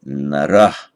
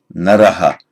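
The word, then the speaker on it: नरः: Pronounced in isolation, you will often hear it said naraha, with the echo of the vowel following the naraha. In ancient times, it was more likely to have been pronounced narah. The dual is narau, nominative.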